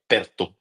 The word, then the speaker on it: Perttu: Yeah, Perto, I think your pronunciation is pretty good.